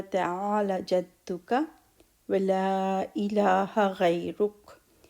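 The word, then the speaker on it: غيرك: Wa ta'ala jadduka wa la ilaha ghayruk. Ghayr, ra and ra both are heavy. So ghayruk.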